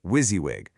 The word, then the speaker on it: WYSIWYG: You say it like wizzywig, and it stands for what you see is what you get.